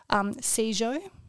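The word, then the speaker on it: sijo: It's a poetry called Shizo, and it's Korean poetry. It is spelt S-I-J-O.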